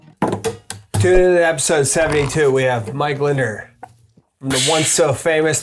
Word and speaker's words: Lindner: I added an extra syllable Because of that jug of water. Lindner. Lindner.